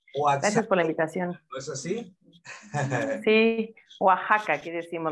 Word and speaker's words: Oaxaca: por la invitación sí Oaxaca aquí decimos la x en el Oaxaca se pronuncia así Y sí de aquí